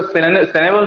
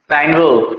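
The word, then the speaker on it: Cynewulf: है ना, ठीक है, इसको सेनेवुल्फ भी बहुत लोग प्रोनाउंस करते हैं, बट एक्चुअल प्रोनाउंसिएशन आप इसका करेंगे क्या, साइन वुल्फ, ठीक है।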